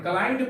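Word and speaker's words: climbed: ही क्लाइंड, B silent यहां पर, क्लाइंड पढ़िएगा।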